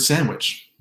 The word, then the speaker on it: sandwich: I'm talking about a T or a D sandwich, which is descriptively silent, just like the D in the word sandwich.